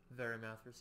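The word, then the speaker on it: Varimathras: Verimathras, yeah.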